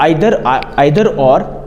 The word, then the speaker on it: either: कई लोग इसको नीदर भी प्रोनाउंस करते हैं, कई लोग इसको ईदर प्रोनाउंस करते हैं। ऐसा नहीं कि वो गलत है जो ईदर प्रोनाउंस करते हैं और जो आइदर प्रोनाउंस करते हैं वो सही है, या फिर जो आइदर प्रोनाउंस करते हैं वो सही है या ईदर वाले गलत हैं। ऐसा नहीं है।